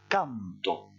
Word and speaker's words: canto: Ici, on va prononcer canto, en insistant sur le dernier O, et quand vous êtes au présent d'indicatif et que vous supprimez l'accent écrit, on dit canto, c'est-à-dire que vous insistez plutôt sur le A.